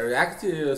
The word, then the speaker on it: React: É React? Se a pronúncia tá Isso.